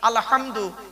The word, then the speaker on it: আলহামদু: আলহামদু এই গলার ভেতর থেকে এটা উচ্চারণ করবেন।